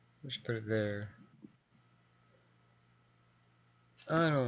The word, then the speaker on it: ye: to do the thorn, which is an old English letter, and it's not pronounced ye old chop, it's pronounced the old chop.